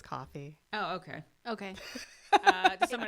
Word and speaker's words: Ko-fi: I think it's coffee. Oh, okay. Okay. Does someone else want to say it? No. No. It's K-O-F-I. I so assumed it was meant to sound like coffee, but you said it Yeah.